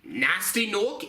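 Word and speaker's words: Gnasty Gnorc: a Stephen on button isn't the letter G supposed to be silenced should it be nasty nork instead well obviously somebody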